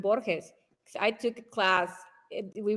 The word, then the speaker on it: Borges: So, um, yeah, by the way, Michael, good job on pronouncing Borhees. I took a class, we read one of his essays in class and they would say Borges and I was bores.